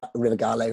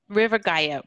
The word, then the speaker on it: River Gallo: okay i called it i called them river river gallow for quite a while before they corrected me oh i mispronounced it um they're from el salvador and they pronounce it okay good river gaio thank you um ponyboy i watched that and